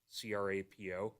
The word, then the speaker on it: Crapo: as I'll say that his last name is crapo c-r-a-p-o hopefully I'm pronouncing it correctly but is the new